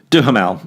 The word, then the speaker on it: Duhamel: beautiful and Josh Duhamel I can never say it right do her mal so Josh Duhamel does